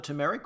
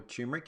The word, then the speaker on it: turmeric: so turn up the turmeric or tumeric if you say it like that is really an anti-inflammatory